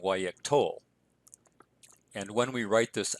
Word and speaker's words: Yiqtol: Also notice that the accent has shifted back to the second to last syllable, so it's Yiqtol rather than Yiqtol.